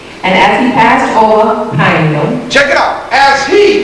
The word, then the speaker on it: Peniel: Peniel. Peniel. How about pineal? See, she pronounced it the way we've been taught to pronounce it.